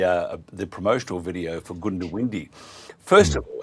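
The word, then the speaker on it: Goondiwindi: the promotional video for Gundowindi. First of all, how do you pronounce the bloody place? Well, look, um, most people say Gundowindi. If you really don't know, you say Gundowindi, okay?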